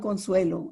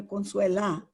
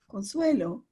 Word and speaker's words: Consuelo: a teacher for example I'm Consuelo and people want to automatically make me a Consuela because I'm a female so I very much you know in a gentle diplomatic way say my name is Consuelo and in the idea